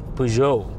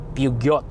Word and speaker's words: Peugeot: You know, it's, for the record, it's Peugeot, not Peugeot. You know, I mean, it's typical French. They spell with 10 or 20 letters, but only pronounce 6.